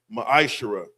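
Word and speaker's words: מעשר: It's pronounced ma'aserah.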